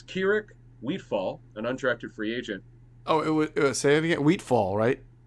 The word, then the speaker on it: Wheatfall: So it's Keurig Wheatfall, an undrafted free agent. Oh, it was say it again. Wheatfall, right? Right, Wheatfall, right. Wheatfall. It's spelled like you would think.